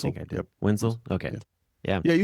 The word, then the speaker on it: Wentzel: I never pronounce his name right. I don't Wentzel, think I did. yep. Wenzel?